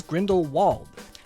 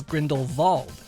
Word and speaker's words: Grindelwald: in both the first and second movie says Grindelwald but Jude Law dared to be different by pronouncing it as Grindelwald because he thought it was a way of